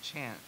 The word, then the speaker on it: Kant: he's reading called uh black Kant pronounced chant which has to do